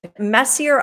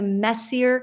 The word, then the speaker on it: Messier: known as is Charles Messier anyone French out there I know pronounced the r a little bit differently but Charles Messier and he actually coined